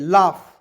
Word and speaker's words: laugh: एल ए से होता है ला, अच्छा एल से होता है ला, AUGH रहेगा तो उसको जो है आप देखिए लाफ, तो इसमें फ कर देंगे तो LAUGH क्या पढ़ेंगे? लाफ।